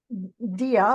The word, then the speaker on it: Dea: Dea, like an idea.